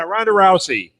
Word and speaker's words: Ronda Rousey: is that how you say her name yeah Ronda Rousey yikes over the doctor you voted for Ronda